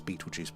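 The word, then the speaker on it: Betelgeuse: I think it's Beetlejuice pronounced, but spelled G's um there.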